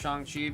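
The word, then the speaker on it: Shang-Chi: We got Shangi. You can always know how to pronounce Shani because remember in the movie he goes by Shan because of Shan.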